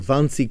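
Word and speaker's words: Wannsee: Term number 30, WC conference or vansy conference. Uh the W's are pronounced like a V in the German language.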